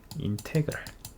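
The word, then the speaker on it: integral: 인테그랄이라고 읽어요. 인테그랄.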